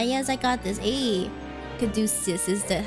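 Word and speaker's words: caduceus: we yellow I yes I got this hey kadis is that how you pronounce it cusis how you caducus caducus okay I got it right that's a caducus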